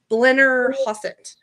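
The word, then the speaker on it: Blennerhassett: Blenner Hassett.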